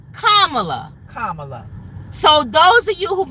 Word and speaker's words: Kamala: She was saying Kamala. It's not Kamala. It's Kamala. Like the little girl said, say comma and then la. Kamala.